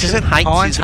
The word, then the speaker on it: Heinz: Heinz, as I asked the pronunciation. Heinz, is it? Heinz is the pronunciation.